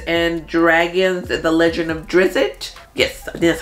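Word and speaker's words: Drizzt: have uh Dungeons and Dragons the legend of drizzit yes that's how you say it you're building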